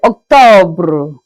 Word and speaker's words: octobre: That's in French we say Octobre, Octobre. Please here, just make sure that the pronunciation of the R is out.